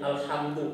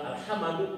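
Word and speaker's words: الحمد: ustaz gimana caranya nanti kita dibacanya alhamdu bukan alhamadu alhimidi nah itu mah kan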